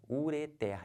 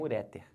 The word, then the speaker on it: ureter: bexiga aquele nome daquele é o que ureter e não ureter tá bom aqui como